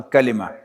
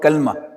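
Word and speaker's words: كلمة: I introduced to you that every meaningful word in Arabic is called a calima. Don't call it kalma.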